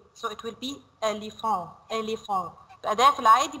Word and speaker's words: éléphant: Here, because this is E, this is O, but because this is accent, E, we pronounce it like A, so it will be éléphant, éléphant.